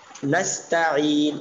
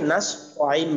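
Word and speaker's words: نستعين: এরপর নাস্তাইন, অনেকে নাস আইন বলে, নাস ত, এখানে তা ত হবে না, নাস্তাইন এবং আইন উচ্চারণটা চাপ দিয়ে বলতে হবে।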